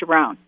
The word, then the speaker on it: Sharon: vibrated and literally within three days i was sharone and i said thank you for correcting your